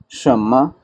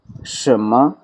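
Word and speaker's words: 什么: बड़ा सिंपल सा लफ्ज़ है, शम्मा शम्मा शम्मा। उर्दू में जिस तरह हम कहते हैं ना, वो शम्मा उजाला जिसने किया, वो वाली शम्मा सुनने में ऑलमोस्ट सेम है।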